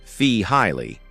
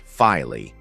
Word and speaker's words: Feehily: Take a moment to listen to Mark Feehily, pronounced Fee-Hiley, not Filey.